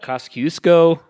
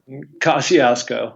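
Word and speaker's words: Kosciuszko: there's Elbrus which is in Russia we have Cossack usko it's the way I say it how do you pronounce it mark Kosciusko Kosciusko I knew I didn't quite have it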